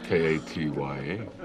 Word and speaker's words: Katya: K A T Y A. Huh. Right. H. Well, actually, I a So, it's actually pronounced Katya.